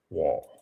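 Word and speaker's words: Wahle: Wall is spelled W A H W A H L E wall.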